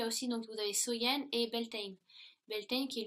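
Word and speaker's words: Samhain: était samen donc qui est prononcé qui se prononce soyen et donc il croyait que si vous voulez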